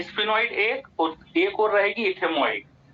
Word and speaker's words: ethmoid: अब ये स्फिनॉइड एक और रहेगी इथेमॉइड। ये भी रहेगी।